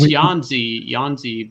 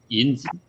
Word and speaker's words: Yanzi: It's Yanzi, but to pronounce it in Mandarin or Chinese, it's Yinzi.